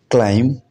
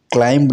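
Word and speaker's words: climb: तो बी का जो साइलेंट है, जैसे कि आपने देखा होगा बॉम्ब, इसे बॉम्ब नहीं पढ़ा जाना चाहिए। क्लाइम, क्लाइम्ब नहीं पढ़ा जाना चाहिए।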